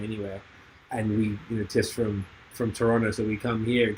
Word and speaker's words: Toronto: And you say it right, you're saying it proper, so I can tell you're actually from Toronto, so it's good. Not Toronto. I like that. I respect Toronto.